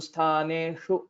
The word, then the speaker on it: स्थानेषु: but maybe I feel you're kind of overdoing that exercise of consciously putting more effort to pronounce shakara. So sthaneshu is sufficient. Sthaneshu, I mean that way will sound little odd.